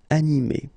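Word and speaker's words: animée: So phonetically, you will get exactly the same form. So masculine form, animé, and then a feminine form, animé.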